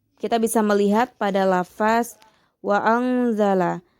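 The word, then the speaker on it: وَأَنزَلَ: Lanjut, kita bisa melihat pada lafaz wa anzala memiliki hukum tajwid yaitu ikhfa hakiki karena terdapat nun sukun yang bertemu dengan huruf za sehingga cara bacanya pun samar disertai dengung. Wa anzala.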